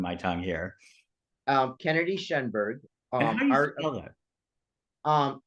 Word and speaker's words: Shenberg: it's still tripping my tongue here um Kennedy shenberg um um It's s h e n is